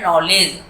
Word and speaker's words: knowledge: ये वर्ड है नॉलेज। के साइलेंट रहता है, KNOW नो, आप पढ़ते